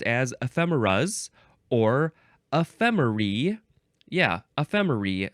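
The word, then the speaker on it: ephemerae: Yeah, ephemeri, spelled with an A-E at the end.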